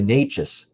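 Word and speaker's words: Nečas: So I wouldn't even argue uh Martin Net Netash here for the uh Carol Marty Nous I should say is how you say it.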